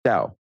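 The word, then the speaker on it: Tao: mean it's Tau Tio the correct pronunciation in Chinese would be Dao but that that can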